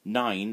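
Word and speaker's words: nain: My mum and dad are going to be a nine and tied soon. 9 is grandmother, and it's pronounced exactly the same as the number 9.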